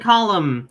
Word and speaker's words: column: Autumn and column, you don't pronounce the N at the end.